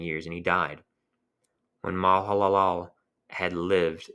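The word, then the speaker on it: Mahalalel: Canan were 90 years and he died when malal laal had lived it's m a h a l a l l so if I'm slurring that my apologies in advance kind of hard to pronounce when Mal Halal had lived 65 years he had fathered Jared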